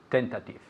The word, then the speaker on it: tentative: tentative, Excellent. Repeat again. tentative, Okay, very good. Tentative. Tentative. Now pay attention to where we put the emphasis. It's on the first syllable.